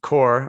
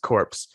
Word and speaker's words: Corps: and Gil Kenan through their Ghost Corps or Ghost Core. I always think it's clever if you pronounce it Corpse.